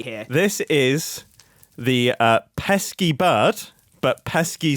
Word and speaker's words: pesce: and I'm going to call it the pesky bird, but pesky is spelled P E S C E.